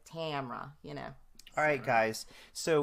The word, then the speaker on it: Tamara: so just just like my name is spelled ta ma RA so that would really be like Tamara you know but yeah we're from the south so I just leave out that middle a is like Tamara you